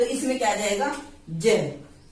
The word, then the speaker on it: ज्ञ: इसको जय बोला जाता है, ना कि गे। हम बोलते हैं ज्ञानी, ज्ञानी नहीं होता, ज्ञानी होता है, तो इसमें क्या जाएगा, जय।